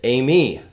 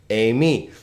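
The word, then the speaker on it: εἰμί: Take a look at Amy. Very common verb here. Amy. How many syllables here? Well, A is a diphthong, right? So it's a, me.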